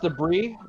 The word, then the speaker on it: debris: briss scattered like everywhere it's pronounced debris do not say brisk because that's something very different makes some people cross